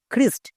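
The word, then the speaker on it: Christ: এখানে দেখো সিএইচ এর ঠিক পরে আর আছে। তার মানে সিএইচ এর জন্য ক হবে। তাহলে এখানে খ কেন হয়েছে? এখনি বললাম ক এর উচ্চারণ কখনো কখনো খই যেমন ক্রিস্ট next C এইচ আর আই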